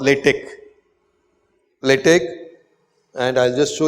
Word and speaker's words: LaTeX: LaTeX, but then it is not X, it is kappa. So we say LaTeX. Okay, spelt latex, pronounced LaTeX.